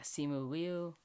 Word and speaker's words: Simu Liu: Yeah, Simu Liu, I think is how it's pronounced.